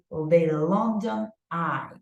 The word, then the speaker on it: London Eye: The London Eye. Okay, so Marjorie, which one do you think is the stressed syllable? Long. Long, right? The London Eye, correct.